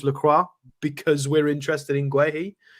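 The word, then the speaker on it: Guéhi: Ali B says it's pronounced Guehi.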